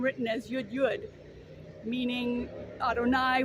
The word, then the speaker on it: Adonai: And sometimes you'll see the divine name written as Yud Yud, meaning Adonai. We pronounce it Adonai, but it really represents the divine name, because as this Chabad